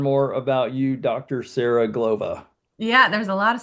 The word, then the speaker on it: Glova: Sarah Glova. So, I I hope so. My name rhymes with supernova.